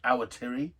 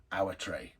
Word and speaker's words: Awatere: And that's the region here which, depending on who you are, is pronounced Awatere, or as I pronounce it, because most of the Kiwis I know pronounce it this way, Awatere.